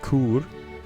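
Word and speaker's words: Chur: I don't know how to pronounce it in English. In English, in ch in German it is Kur.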